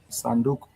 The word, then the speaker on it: sanduku: Sanduku that is a box. So, sanduku has three syllables.